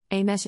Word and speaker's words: Amise: It's pronounced as IPA, all the E is like the E in Beth. And the S is SH like in shoe. Amesh A.